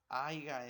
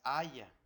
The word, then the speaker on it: haya: Dicen aiga es haya.